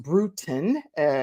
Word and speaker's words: Brutin: brutin is pronounced brutin like kind of brewing a tea type of thing and she is a